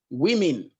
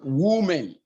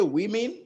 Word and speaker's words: women: is pronounced e and finally we have the pronunciation women and not women so we say women not women and the last thing i will come back